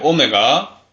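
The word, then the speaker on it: ω: 오메가. W처럼 보이는데 얘도 그리스 문자라서 읽기로는 오메가라고 읽어.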